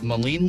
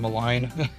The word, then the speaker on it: Maligne: got done with our boat tour of Maligne Lake. So I guess I've been saying it wrong. I've been saying Maligne. It's Maligne, or at least that's how the tour guide pronounced it.